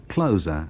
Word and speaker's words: Closer: That's Theatre of Hate on Division, and that's Decades, and it comes from the LP Closer, although our Brian actually today pronounced it Closer, as in something that closes, and I never thought of it like that before.